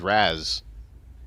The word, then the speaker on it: Ra's: We all have like Ra's al Ghul or Raz al Ghul. Oh yes, it's a lot of names. Like we have a speculation about how it's pronounced. Yeah, I only say Raish because of the animated series. It was always Raz when I was reading it. That's how I always say.